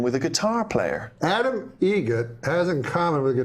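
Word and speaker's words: Eget: It's a joke, an Adam Egret joke. How do you say the name? Adam Egret. Egret. Spelt differently. Like the bird.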